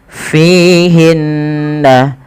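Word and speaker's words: فِيهِنَّ: Kemudian hinna ada ghunah pada lafal bacaan nun berharakat tasydid. Hukum gunah merupakan tingkatan tertinggi dalam bacaan gunah, yaitu ketika ada nun tasydid atau mim tasdid. Maka cara membacanya menahan kedua-duanya atau menahan bunyinya. Maka tidak langsung fihinna khairo, tapi tahan dulu. Fihinna fihinna khairat.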